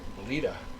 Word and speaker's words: Bleda: I hope you don't pronounce that Bleda. Bleda, B-L-E-D-A, 6-0. Hopefully she won't be bleeding.